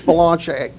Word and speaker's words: Bellinger: dealing with yes Kevin balanche yes he is yeah I never know how to pronounce his last name either but uh I'm told it's Balan but uh he is